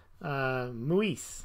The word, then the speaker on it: Muis: Muis. That's rhymes with Luis.